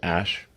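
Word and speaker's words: Æ: X um and then the AE is like pronounced Ash um yeah and then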